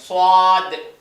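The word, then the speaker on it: صاد: இது வந்து கனமா ஓதணும் சவாத் என் வாய் பாருங்க சவாத் அடுத்து அதே மாதிரி இன்னொரு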